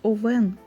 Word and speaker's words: Овен: гомілки це Овен правильно зверніть увагу наголос Овен це пантофлі правильно м'які